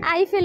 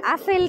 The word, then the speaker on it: Eiffel: শুনি না জোরে বলো টাওয়ার ওকে আপেল টাওয়ার আইফেল উচ্চারণ করতে পারে না ও বলে আপেল টাওয়ার এখানে লম্বা লাইন এরা সবাই আইফেল ডরের